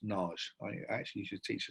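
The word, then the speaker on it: Nagy: and ours and it looks like the word Naggy but he's actually pronounced Nars I actually should teach a student for the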